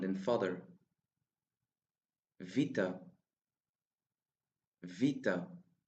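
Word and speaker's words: βήτα: Vita. Vita. The sound of vita is the same as the v sound in vote.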